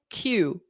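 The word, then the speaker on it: queue: very different spelling Q so it's just the letter you can ignore all the those vowels and just say Q this is one that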